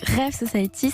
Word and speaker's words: REV Society: D'abord, je voudrais repréciser pour commencer, on s'appelle donc Rêve Society, ça s'écrit REV plus loin Society.